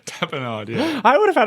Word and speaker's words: tapenade: Tapenade. Tapenade, yeah. I would have had it right. I just thought it was so funny. That's all she She said. broke her tooth on an olive-topped tapenade.